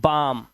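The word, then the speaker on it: balm: इसी तरह से यह बालम नहीं है। इसे पढ़ते हैं बाम और यहां पर इनके मीनिंग्स भी लिखे हुए हैं।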